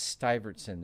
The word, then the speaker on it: Stuyvesant: That's pronounced Stuyvesant.